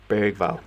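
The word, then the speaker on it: Bergvall: It's pronounced Bergval.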